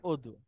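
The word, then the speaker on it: وضوء: সবচেয়ে মানে প্রকৃষ্ট উদাহরণ হচ্ছে আপনার অজু, হ্যাঁ। অজু অজু, আর রাইট। অদু। অজু। তো আপনাদের যদি ওরকম হয়, তো জয়ীফ দয়ীফ এটা ব্যাপার আছে।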